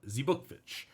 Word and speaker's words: Zbukvic: Zbukvic.